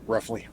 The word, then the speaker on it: Rufli: Matt, how do you pronounce? Roughly.